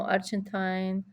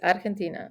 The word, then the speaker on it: Argentina: No Argentine, no Argentine. It's Argentina. It's how we pronounce it.